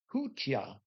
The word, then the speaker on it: Kutia: If you said Kutia, you would have gotten it right. And that is spelled Kutya. Kutya.